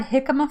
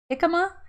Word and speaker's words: jicama: you all ever tried jicama fries jicama jicama i don't know it's jicama dick it's a j it's spelled with a j but i know it's